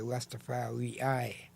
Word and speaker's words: Rastafari: I have a way of, when I pronounce it in the Ethiopian tongue, I will say Rastafari.